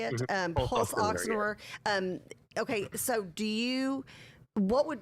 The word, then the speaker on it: pulse oximeter: Well, and when you talk about that, the pulsometer, is that how you say it? Pulse oximeter.